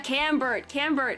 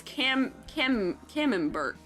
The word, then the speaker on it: Camembert: Yeah, Camembert is the one.